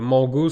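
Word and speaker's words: Mangot: Mais Mango, ça s'écrit M-A-N-G-O-T.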